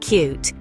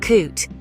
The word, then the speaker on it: cut: as in cut and cute French speakers tend to use the u sound from cute in both cases which can lead to confusion remember it's cut not coot now let's try an